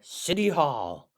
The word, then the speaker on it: City: taxes at City Hall I know it's got a t but we pronounce it like it's a d we say City hall